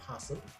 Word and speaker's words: opossum: See, when you pronounce opossum, it's actually possum. So you don't even know that there is an O there.